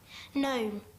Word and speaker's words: gnome: Gnome. Gnome. G N O M E.